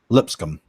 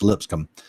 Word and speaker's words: Lipscomb: now for lips income that's a tough one to pronounce for me Lipscomb I'll say lipstick um its Lipscomb Lipscomb you would take 77